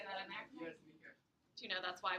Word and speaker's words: Nike: Nike is how you say her name. We say Nike because of the shoes, but Nike.